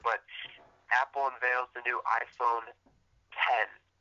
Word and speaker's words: iPhone X: Apple unveils the new iPhone 10. iPhone X, but it's pronounced 10.